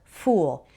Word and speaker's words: fool: Fool has an oo sound, the same as in food and rude. It's different from the word full, which has an sound, like the same as in pull.